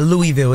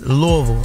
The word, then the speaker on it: Louisville: think she telling me I said it wrong it's not Louisville it's Louisville Louisville Kentucky May 3rd